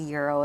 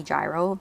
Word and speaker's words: gyro: you're really planning on the mispronounce is the Euro it's so funny because people say gyro because it's spelled that way I feel like this